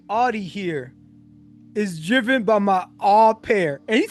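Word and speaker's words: au pair: It's pronounced opair.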